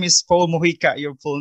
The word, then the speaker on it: Mojica: front end okay so uh your name is paul morika your full name right yes correct do i pronounce correctly that's correct yes sir so uh